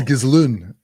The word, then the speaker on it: Ghislaine: And like Ghislaine, whatever the fuck you pronounce her name. Ghislaine, I think it is. Ghislaine. It's Ghislaine.